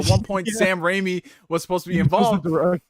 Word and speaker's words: Sam Raimi: and i was like gabe don't you mean sam raimi and it was like glass broken his mind